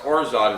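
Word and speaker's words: orgeat: a half oz of orot syrup and orot it's spelled o r g e a t but it's pronounced orot it's French and it's like an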